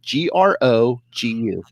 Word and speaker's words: Grogu: how you spell it g-r-o-g-u grogu just like just like it sounds yes which actually just